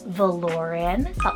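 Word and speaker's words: Valoryn: um kind of futuristic names here we have voren v a l o r y n voren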